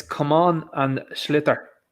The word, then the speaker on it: sliotar: Ninja Knight, do the proper pronunciation because I'm shit as well. But go on. It's come on and sliotar. Sliotar.